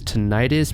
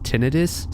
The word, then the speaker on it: tinnitus: The word you're going to hear me pronounce is tinnitus, but it's actually pronounced tinnitus, so please don't crucify me in the comments.